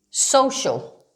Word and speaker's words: social: like an sh sound sh usually only appearing in adjectives ending with c-i-o-u-s shish or so okay as in ferocious ferocious or as in social social this is a quiet c this has more of an sh an sh sound okay um of